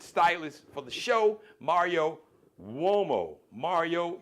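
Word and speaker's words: Umo: Mario womo. Mario. U M O. It's Italian, so it's pronounced.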